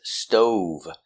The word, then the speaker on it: stove: Our first word is stove, making the long O sound.